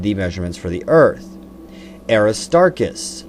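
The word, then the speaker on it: Aristarchus: Aristarkus. I stress the middle syllable Aristarus because the sun is a star.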